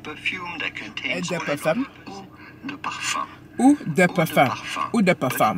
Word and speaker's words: eau de parfum: Ou de parfum. It would be fine in English or American to say eau de parfum.